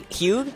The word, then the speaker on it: Hugh: But right now, what's your friend's Hugh? Hugh. All right. Hugh. Yeah. Hugh. Yeah, like H-U-E would be okay. How you pronounce it.